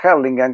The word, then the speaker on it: Hurlingham: Además, yo vivía en Hurlingham, que se pronuncia Harlingham, que es una localidad del Gran Buenos Aires muy británica.